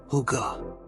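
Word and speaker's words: hygge: Huga, pronounced huga.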